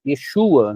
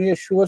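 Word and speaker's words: ישוע: Então Yeshua seria com esses dois pontos aqui. Veja, a vogal da primeira sílaba de Yeshua é tserê. A sílaba tônica é shu.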